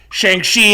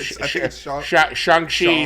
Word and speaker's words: Shang-Chi: But I believe Shang-Chi sounds like how the people who are in the movie say it. Shang-Chi, we saw how the